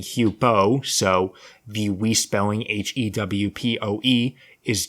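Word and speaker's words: Huepow: except you can clearly hear the voice saying hupo so the re-spelling h-e-w-p-o-e is just more phonetically accurate it makes more sense and it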